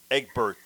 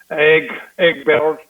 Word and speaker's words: Egberto: Yeah, I like the way you converted my name to the English version, Egbert, instead of Egberto. I want to hear you roll your R's, man. Egberto.